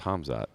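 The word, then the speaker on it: Khamzat: How do you pronounce it? And I was like, oh, it's Hamzat. And he was like, Kamzat, Hamzat, something like that.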